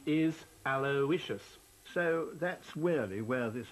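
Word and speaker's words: Aloysius: be a common link alicious actually the correct pronunciation ation of your son's name is aloicious not alious H alious it can't be a l o y s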